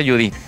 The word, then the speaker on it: Judith: Se escribe Judith y se pronuncia Judith.